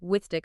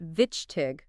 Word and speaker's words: wichtig: Now, for a word with that tricky chis sound we talked about earlier, wichtig, meaning important, it's pronounced wichtig, with that raspy chich at the end.